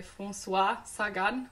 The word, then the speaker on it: Françoise Sagan: is ambushed Orestes by force wat Saigon Wow French pronunciation on point and which was published